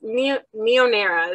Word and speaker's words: NeoNera: So So it's NeoNera is how we say it.